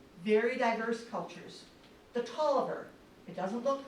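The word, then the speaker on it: Taliaferro: The Toiver, it doesn't look like it should be pronounced that way, but it is.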